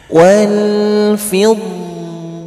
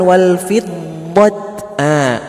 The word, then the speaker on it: والفضة: Kenapa dibacanya seperti huruf H besar? Wal-fiddah. Kenapa bacanya bukan wal fiddat?